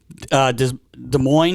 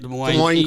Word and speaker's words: Des Moines: Des Moines, is that how you say it? Des Moines.